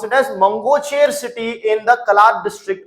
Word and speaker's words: Mangocher: The Baloch rebels under the Balochistan Liberation Army BLA has seized Mangocher, you can pronounce it as Mangocher city in the Kalat district of Balochistan.